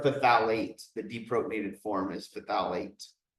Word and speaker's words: phthalate: Or phthalate, the deprotonated form is phthalate. Just don't forget the TH when you pronounce it.